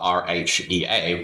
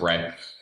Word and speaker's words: Rhea: And then Ray for the girl is spelled R-H-E-A, which is mother of gods in Greek. Is it? Yeah. Or Rhea. But it's... Rhea, yeah. I would pronounce it Ray.